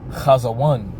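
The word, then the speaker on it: חזון: All right, so that word in the Hebrew is pronounced chazawan for vision.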